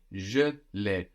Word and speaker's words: je l'ai: Now we have je and then le and e will contract to give us le. Je l'ai.